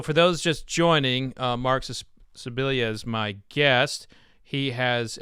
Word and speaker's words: Scibilia: and I was talking about you, and I pronounced your name right this time. That's great. So, Scibilia, hey, man. I got it down. Scibilia.